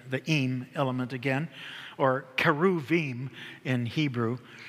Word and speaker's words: cherubim: The im element again, or keruvim in Hebrew. The ch is really a k.